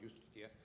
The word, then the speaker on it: Justitia: If you go to a Supreme Court into any Western country, there is Justitia, there is no J word in Latin, it's I-U-S-T-I-T-A, but it's pronounced Justitia.